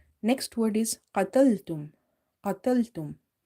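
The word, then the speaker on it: قتلتم: Again, we have qaf, and this qaf is from the heavy letters, so it's quite heavy, or a full mouth letters. So try to pronounce it heavy as much as you can, okay, as if your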